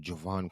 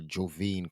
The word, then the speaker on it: Jovane: by the name of Jovan Clark or Jovane Clark. That's how you say it, my bad.